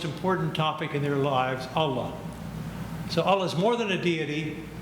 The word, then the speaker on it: Allah: But I love Allah, with three A's, A-L-L-A-A, because when you pronounce it, it's Allah. So there's an accent on the second A that's not there on the first.